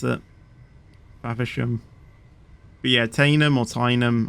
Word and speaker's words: Faversham: yeah that's how you were that's how you pronounce it favishham but yeah taina mortain them I don't know